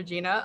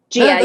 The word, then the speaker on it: Gia: Well, we absolutely love your character Gina on Full House and Fuller House. Can you tell us, Gia? Did I say it wrong again? Gia, yeah.